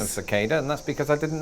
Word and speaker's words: cicada: That is, there are many words in which an R pronunciation in British English becomes a long A in American English.